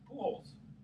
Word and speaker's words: Pujols: How's that guy's name pronounced? Pujols. Pujols.